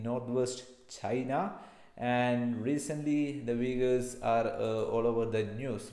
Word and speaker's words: Uyghurs: The Uyghurs ethnic group, the Uyghurs are alternately Uyghurs, okay, Uyghurs, the different pronunciation, are a Turkic minority